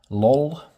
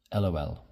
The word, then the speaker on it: lol: You can pronounce this as lol or lol.